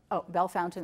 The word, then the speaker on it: Bellefontaine: Bell Fountain. Okay, thank you. I say everything wrong. All the French words are mispronounced.